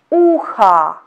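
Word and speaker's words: ухо: Pay attention, in this word also we have got letter O. And letter O is not under the stress. That's why we pronounce it as letter A.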